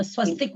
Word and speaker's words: स्वस्तिक: स्वस्त का थोड़ा सा क का उच्चारण थोड़ा इधर ले लेते हैं। तो या तो हम क का उच्चारण ले और या हम स्वस्ति का ती बड़ा बोले, दोनों व्यवस्था है।